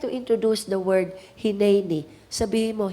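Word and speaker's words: הִנֵּנִי: Isaiah I would like to introduce the word hineni sabihin mo hineni pronounce Hen Hen This is an important Hebrew word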